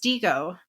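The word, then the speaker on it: Digo: And last but not least, the tool I wanted to quickly go over is DGO. And that's spelled D I G O.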